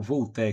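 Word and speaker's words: Voltaire: que é um francês, o Volté se escreve Voltir, né?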